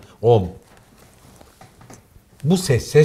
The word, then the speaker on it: Om: If only I could do like the monks. OM The sound almost comes from the nose OM This is the sound,